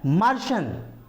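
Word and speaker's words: Martian: उसके बाद आता है मार्शन, इसमें भी TIAN है, मार्शन।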